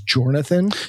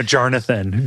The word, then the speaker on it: Jarnathan: to at the beginning, his name is Jornathan. No, Jarnathan. Don't bite your tongue. You do not mispronounce Jarnathan's name.